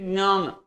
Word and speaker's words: ज्ञान: सीधा ऐसे लिखो ज्ञान, बट इट्स नॉट the pronunciation, it's नॉट ग, इट इज ज्ञान, जो भी प्रोनाउंसिएशन होगा